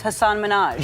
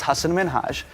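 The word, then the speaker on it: Hasan Minhaj: Because everyone that says your name says Hassan Minaj. Yeah, but the real way you pronounce it, and this is a big deal cuz my parents are here, it's Hassan Minhage.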